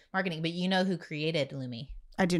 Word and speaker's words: Lumi: We were saying loom. It's wrong. It's Lumi, which is fancier.